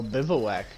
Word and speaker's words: bivouac: Oh, bivouac. That's how you say it, huh?